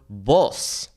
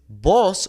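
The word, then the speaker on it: voz: In this case, boss with a Z means voice. Whereas boss with an S means you. The pronunciation is exactly the same, but we understand the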